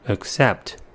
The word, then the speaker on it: accept: The word has 2 syllables and the stress is at the second one.